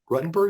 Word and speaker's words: Ruttenberg: book this is one from Rabbi Donya rutton ruttenberg is that hey pronounced name yep she says your brain heart